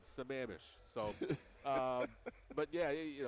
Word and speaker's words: Sammamish: Ron perro is from he gave me the correct procrastination Sammamish salmon I butchered it last time I said it's a man missed or something crazy and uh I told him he laughed at me he said yeah it's Sammamish so um but yeah